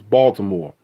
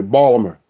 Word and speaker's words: Baltimore: B oh yeah that's another thing how you pronounce how you say Baltimore it's Baltimore Baltimore now some white people say Balmer every how you say Baltimore how y'all say